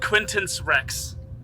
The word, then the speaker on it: Quinctenc Rex: He's on the the I'm going to say that middle C is silent then just so it's easier to pronounce. Uh, Quinn uh Quintance Rex.